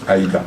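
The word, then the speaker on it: 間: Ce sinogramme, quand il est seul, se prononce hito, et celui-ci se prononce aida. Enfin, il a d'autres prononciations aussi, mais ici c'est aida.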